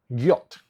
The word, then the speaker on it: Giott: Giott. Rhymes with idiot.